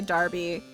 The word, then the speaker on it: Derby: Um I mean Derby is pronounced with an a. Darby. I mean in in Canada it isn't.